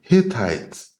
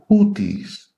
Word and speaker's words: Hittites: They later you will see them listed as the Hittites. This not the proper pronunciation. They are the Houthis.